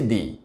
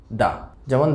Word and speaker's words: the: তাহলে আজকের লেসনটিকে সংক্ষেপ করে যদি আমরা আরেকবার বলি, ইংরেজি THE এরপরে যে ওয়ার্ডটি বসবে সেটির প্রথম ওয়ার্ডটি যদি কনসোনেন্ট হয় তাহলে আমরা উচ্চারণ করব দা, যেমন দ্য বয়, দ্য girl, দ্য morning, দ্য night.